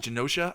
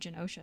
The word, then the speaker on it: Genosha: I have no idea how to pronounce that country name, but Genosha, I think. Yeah, I've always said Genosha, but so that kind